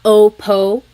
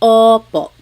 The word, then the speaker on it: opo: So O like OPO oppo. It's not OPO. It's oppo.